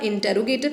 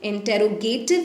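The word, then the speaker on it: interrogative: Next है student आपका इंटेरोगेटिव adjective. इंटेरोगेटिव नहीं कहते हैं, इंटरोगेटिव कहते हैं, ठीक है, करेक्ट प्रोनाउंसिएशन इंटरोगेटिव है।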